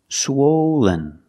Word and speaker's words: swollen: the second syllable is not stressed it sounds like this Lin Len swollen swollen the adjective is swollen